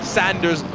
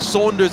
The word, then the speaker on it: Sanders: Sanders, I was saying Saunders instead of Sanders, okay?